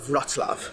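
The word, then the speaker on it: Wrocław: so it looks like rla rla but it's pronounced RAV which is one of the few Polish names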